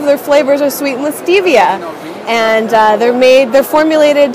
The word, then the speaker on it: Stevia: actually I was corrected I've been pronouncing Stevia this whole time but it's Stevia which sounds even better so check them out what